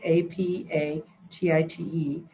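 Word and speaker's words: apatite: is blue appetite and that appetite is not spelt like what you eat it's spelled like apa tite and it's a beautiful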